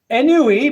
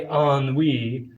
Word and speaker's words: ennui: Ennui, pronounced ennui.